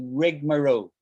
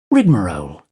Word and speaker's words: rigmarole: ready so it's a rigmarole make sense rigmarole rigmarole rigmarole slightly different pronunciation here rigmarole rigmarole rigmarole rigmarole right is that making sense